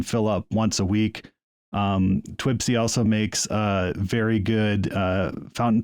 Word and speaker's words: TWSBI: But then I hit upon this company called it's sometimes pronounced TWSBI, but it's TWSBI, and they make a pen which is perfect for beginners.